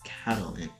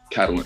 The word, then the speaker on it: Catalent: people typically mispronounce but it's literally just the words Catalyst and talent combined together cat catalent catalent yeah so you got